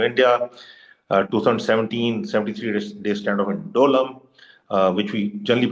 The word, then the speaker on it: Doklam: 2017, 73-day standoff in Dolam, which we generally pronounce Doklam now.